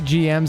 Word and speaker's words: GM: Aren't they GMs and not gyms? They pronounce them as gyms though and everything, Kenny. I used to call them GMs all the time. But in like all Gundam media, they always say gyms.